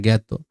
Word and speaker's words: জ্ঞাত: আবার আ বর্ণের উচ্চারণটা অনেক সময় এর মত হয়। আ বর্ণের সঙ্গে যদি এই যে বর্গ যকীয় এর সাথে থাকে। এই যেমন হলো জ্ঞান হ্যাঁ এই যে জ্ঞাত হ্যাঁ এলো উচ্চারণ জ্ঞাত যে জ্ঞাপন হ্যাঁ